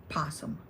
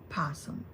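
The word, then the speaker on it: opossum: You don't pronounce the O. I don't know where that word came from. French, German, no idea. So, you don't pronounce O. So, Jenna, if you're watching, it's possum.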